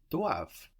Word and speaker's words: doivent: They must is ils or elles doivent. D-O-I-V-E-N-T. So also spelled with that silent E-N-T on the end.